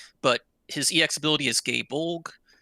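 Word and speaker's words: Gáe Bolg: his yex ability is gay bulk which I'm probably not pronouncing right gay a bulk I don't know its of no you're right gay Bolg is the correct pronunciation okay it's a four-hit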